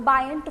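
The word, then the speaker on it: buoyant: वो पुश को हम क्या बोलते हैं, बायंट फोर्स बोलते हैं। बॉयंट फोर्स या फिर बायंट फोर्स, कुछ भी आप इसको प्रोनाउंस कर सकते हैं, ठीक है।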